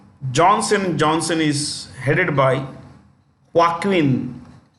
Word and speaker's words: Joaquin: Johnson is headed by Joaquin this J is pronounced with the ha H okay Joaquin duato that's